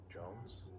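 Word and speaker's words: J'onzz: John Jones. I say John Johns. It's spelled with Z's.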